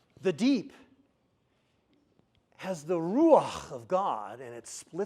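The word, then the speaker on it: ruach: the word for wind say Ru like you're spinning R say it again again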